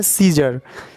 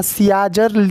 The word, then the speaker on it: Caesar: देखिए यहाँ पर सीजर, तो यहाँ पे ए से तो आ होता है। ठीक है, आ होता है तो यहाँ सियाजर होना चाहिए या सियाजर, लेकिन सीजर इसको बोल रहे हैं। ए यहाँ पे साइलेंट हो गया।